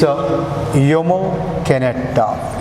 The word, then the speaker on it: Jomo Kenyatta: So here, since he is a Kikuyu, Negro, so their native, according to their native pronunciation, it is Jomo Kenyatta.